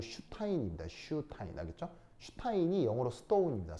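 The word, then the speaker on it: Einstein: 이게 ST가 영어에서는 쉬 이 발음이 나거든요. 그래서 스타인이 아니고 슈타인입니다.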